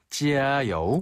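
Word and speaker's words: 加油: 찌아요. 짜요. 찌아요. 찌아는 더하다란 뜻을 가지고 있고요. 여우는 기름이란 뜻이에요. 그래서 원래는 주요하다란 뜻으로 찌아 여우를 쓰지만요 표현을 이제 응용해서 파이팅이란 표현으로 자주 쓰는데요. 짜요. 찌아요.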